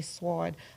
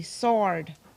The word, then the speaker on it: sword: above his head and kept calling it a sword pronouncing the silent W Karim saw me seething and laughed angered I blurted out it's pronounced s o r d sword they stared at me